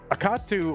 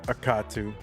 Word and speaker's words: Akatu: Tetris Akatu. You think it's pronounced like a sneeze like?